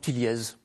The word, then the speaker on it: Tilliez: Franck Tillier ou Franck Tilliez, ça dépend de la prononciation. Ouais. Quand on a un Z dans son nom, on préfère le prononcer.